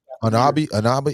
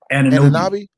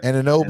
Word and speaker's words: Anunoby: Anabi. How you pronounce his last name? Anunoby. Yeah. Anunoby.